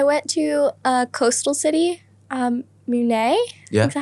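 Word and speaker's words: Mũi Né: I went to a coastal city, Mune.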